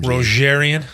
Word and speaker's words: Rogerian: yeah hold on juror that's a soft g what's ger it's a lame g that is lame rogerian yeah you can't say